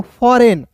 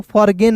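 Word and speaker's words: foreign: फिर देखिए दोस्तों यहां पे एफ ओ आर ई आई जी एन। तो इसे क्या पढ़ेंगे दोस्तों? फॉरेन। फॉरेन पढ़ेंगे दोस्तों। फॉरगेन नहीं पढ़ेंगे।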